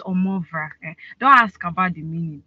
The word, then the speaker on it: Omovrah: I know sometimes some people might find it hard to pronounce. It's Omovrah.